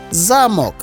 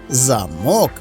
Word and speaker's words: замок: саме на наголос наприклад замок - це укріплена середньовічна будівля а замок це пристрій для замикання також форми одного